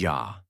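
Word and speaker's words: já: thank you is T yes is yah no is nay goodbye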